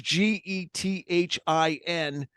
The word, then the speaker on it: Gethin: It's spelled with a K, and it's Gethin, Kris Gethin.